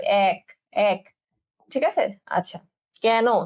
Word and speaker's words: কেন: আচ্ছা, কেন, দেখো এখানে এ কার লেখা আছে, কিন্তু আমরা বলি কি, কেন, তুমি সেখানে কেন যাবে, কেন, কয় জাফলা আকার, ঠিক আছে, তুমি সেখানে কেন